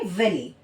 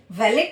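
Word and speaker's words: valet: इसके बाद होता है वैली। वैली वैलेट नहीं है ये। यह है वेले।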